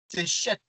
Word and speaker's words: Seth: Mais la vraie, c'est Chet. La vraie prononciation, c'est Chet. Le SH, ça se prononce che.